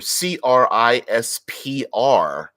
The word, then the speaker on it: CRISPR: okay all right CRISPR CRI SPR is an acronym everyone pronounces it CRISPR which stands for a